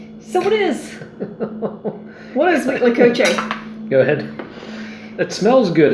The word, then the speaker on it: huitlacoche: So it's huitlacoche, sometimes spelled with a H, sometimes spelled with a C. Huitlacoche. Huitlacoche.